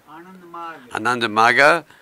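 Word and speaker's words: Ananda Marga: How do you pronounce it? Ananda Maga.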